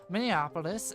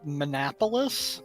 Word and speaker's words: Minneapolis: going to head I'm going to drive to Minneapolis and um hopefully we won't receive any wacky interruptions on our way there. I'm so proud of you. You pronounced it correctly. So, opposed to Monopoulos.